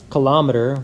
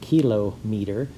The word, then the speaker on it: kilometer: hectometer is hm uh kilometer we are very familiar with we don't pronounce it kilo meter but basically that's what it is kilometer okay so